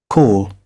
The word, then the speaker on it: call: Call call co call. Então não é cal, certo?